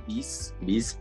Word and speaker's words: Vizrt: O sea, de hecho, este software que te digo que es el Viz, que se escribe V-I-Z-R-T, VizRT.